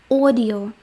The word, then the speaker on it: audio: Audio, теж це не аудіо, це audio.